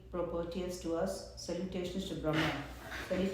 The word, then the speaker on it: Brahman: the word is Brahman so we should be all able to pronounce that word Brahman because not brahmaji Wala Brahma this is a Brahman means the highest form